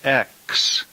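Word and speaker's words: ἐξ: begins with a vowel then this preposition is spelled Epsilon pronounced X and we would get the English word exit from this e is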